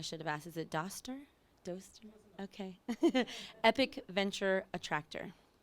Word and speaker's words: Doster: Luke and I'm going to say your last name wrong I should have asked is it Doster okay epic Venture attractor thank you Sam